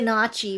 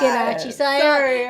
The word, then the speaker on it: gnocchi: The way it's spelled, you want to say gnocchi for sure. Yeah. You want to. But the G is silent.